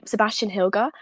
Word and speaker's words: Sebastian Hilger: I was gonna say and if pronounced in English, it'd be Sebastian Hilger. I think that's spelt quite straightforward, so just Sebastian and then Hilger, Hilger.